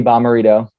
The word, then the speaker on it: Bommarito: So my name is Bommarito. That's how you pronounce it, Bommarito.